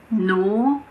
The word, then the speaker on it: gnaw: Some examples are gnat, gnaw, gnome.